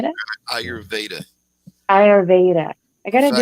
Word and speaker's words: Ayurveda: Ayurveda? Yeah. Ayurveda.